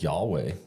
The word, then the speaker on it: Yahweh: writing in the Bible nobody knows how to pronounce it because they didn't use vows but it it works out to YH wh and they used to Hebrews read from right to left we read from left to right so that's that's God's name when he says hey this is my name and we pronounce it as Yahweh but interesting Rick ruin